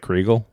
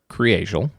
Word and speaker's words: Kriegel: So, it looks like Creal, like if you're just looking at it. K R I E G- E- L. Um, but it's pronounced Creel.